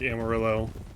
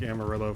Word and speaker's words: Amarillo: So no, I'm not pronouncing it like Amarillo from GTA. I'm pronouncing it like Amarillo from Amarillo, Texas.